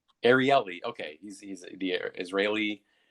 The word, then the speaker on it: Ariely: how do you say the way i've heard it pronounced is ariely ariely okay he's he's the